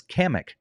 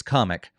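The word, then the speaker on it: Kamek: I thought it was Kamik. Apparently, it's comic. I don't know. Um, the narrator said comic.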